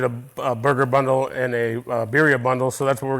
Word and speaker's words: birria: Birria, if you want to roll the R's a little bit. I'm not really good at that either, but birria is birria.